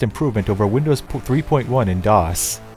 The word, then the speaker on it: DOS: Microsoft had just delivered Windows 95, an incredibly vast improvement over Windows 3.1 in DOS, or as I like to pronounce it, DOS, like the Spanish word for two.